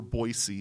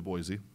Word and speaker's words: Boise: them any trouble because we're Boise when it's clearly Boise and we've got kuna